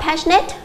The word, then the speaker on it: passionate: số 3 đáp án a Chúng ta đọc là passionate với từ passionate này trong âm C nó sẽ rơi vào âm đầu tiên câu b Chúng ta